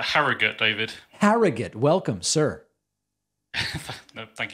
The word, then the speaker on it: Harrogate: instead to evan from is it pronounced harrogate it's uh harrogate david harrogate welcome sir